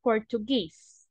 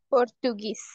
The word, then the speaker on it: Portuguese: in the long form okay and G the pronunciation of Portugues is Portuguese okay Portuguese Portuguese very good thank you so much now